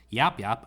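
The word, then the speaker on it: Yapyap: So I watched a video on this and I was told that the correct pronunciation is Yap Yap, and then in all caps, the Destroyer.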